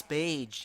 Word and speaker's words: beige: Okay, Universe Beige. Beige rhymes with fucking Gage anyway, Gage, okay?